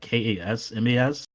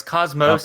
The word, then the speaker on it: Cosmos: The way that the guy was pronouncing it made me think it was Cosmos, like Kasmas. No, it's Cosmos. It's Cosmos. Yeah.